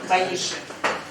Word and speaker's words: Баишев: Он говорил правильное ударение Баишев.